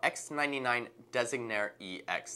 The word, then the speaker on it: X99-Designare EX: for you with our X99-Designare EX. That's right, it's not a typo and I didn't mispronounce it. It's actually from an Italian root, which means designer.